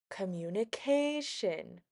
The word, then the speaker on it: communication: Communication has five syllables. Communication. So, we'll go ahead and write a five on this line. Now, our second line asks which syllable is stressed. Which syllable do you think is stressed? Communication. Communication. Which syllable is higher? Da da da da da. It's going to be our fourth syllable.